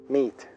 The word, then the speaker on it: meet: Recuerda que pronunciamos hello, terminado en o, y meet, alargando la vocal, meet.